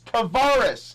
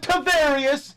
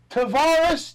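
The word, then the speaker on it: Tarvaris: It's Tavares. It's not Tavarius. It's not Tavarius. It's Tavares Jackson.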